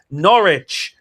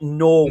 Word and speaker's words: Norwich: Norwich. Not Norwich. Norwich. That there's a W in there. Pronounce it.